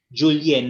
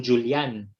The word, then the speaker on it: Julien: not necessarily, but more so yung Julien, nagiging Julian. Yeah.